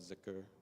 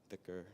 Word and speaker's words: dhikr: So remembrance in the Sufi practice, there's something called zikr or dhikr, depending on how you pronounce it.